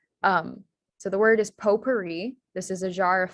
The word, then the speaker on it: potpourri: silent in french um the o sound um is spelled o u so potpourri uh that sound is spelled ou and then the e sound um at the end of a word usually is spelled with an i um and so the correct spelling here you get is p-o-t-p-o-u-r-r-i for um for potpourri then next